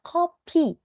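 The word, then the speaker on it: 커피: yang O kayak gitu karena kalau salah huruf aja nih dalam beberapa kosakata itu artinya jadi beda contohnya ada copy copy yang menggunakan O yang berdiri yang o copy itu adalah kopi dalam bahasa Indonesianya tapi kalau kita salah mengucapkannya nih kita ngomongnya jadi kopi itu jadinya mimisan Yun atau darah yang keluar dari hidung Nah jadi kan kalau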